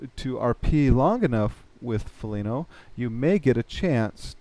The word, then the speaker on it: Phenelo: I didn't want to just copy a name, so I added an H to it to make it Felino. Pronounced Felino, to make it more original and unique and my own.